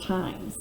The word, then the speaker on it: times: And then I can tap out the word times. It's a 2-syllable word, so I have the word ta, I, silent E, and an S. And the E makes the I say its name.